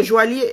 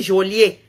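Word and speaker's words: joaillier: je sais encore écrire c'est jolier pas joilier jolier tu as raison j'ai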